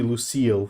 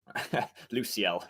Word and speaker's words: Luciel: So, legendary Lucille for you. Luciel. Luciel is a girl's name. Sorry. Is this implying something? No. Lucille is spelt differently. It's a French girl's name. Okay. Yeah. But yeah, Luciel, sorry.